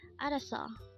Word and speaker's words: 알았어: And then we just need to combine the Hangul for each of these 3 syllables to form the Hangul of the word araso.